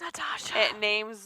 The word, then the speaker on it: Natasha: It was Natasha. It rhymes with Asha.